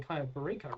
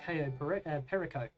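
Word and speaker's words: Cayo Perico: Um, good to know that we've been pronouncing Ko Burico wrong. Apparently, it's KO perico.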